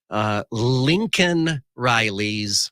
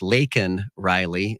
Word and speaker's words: Laken Riley: Joe Biden when he referred to Lincoln Riley's murderer as an illegal alien. Of course, we know it's Laken Riley, and Biden got the name wrong.